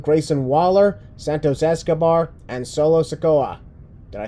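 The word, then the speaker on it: Solo Sikoa: the challengers include grayson waller santos escobar and solo sakoa did i say that right yeah you said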